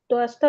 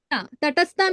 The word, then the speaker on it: Tatastha: to the Swarupa and Toasta Lokhane. Unable to pronounce. Tatastha means What? marginal potency. Oh, Tatastha. Tatastha? Tatastha is marginal.